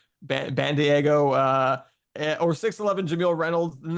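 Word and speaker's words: Bandaogo: The pronunciation, guys, is band-ae-go. I don't know how you pronounce AE, so Bandiego or 6'11" Jameel Reynolds.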